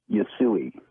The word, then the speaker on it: Usui: Usui.